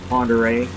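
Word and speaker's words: Pend Oreille: of how it's spelled it's french it doesn't look like lake ponderay when it's spelled out but the navy actually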